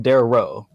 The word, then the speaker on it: Daario: not good REO ba you're adding an extra syllable there it's King Darrow there was no other